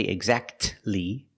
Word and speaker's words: exactly: The T is silent when it's between consonants. Examples. Exactly. Christmas. We see the T is between consonants. So we don't pronounce it. You don't say exactly.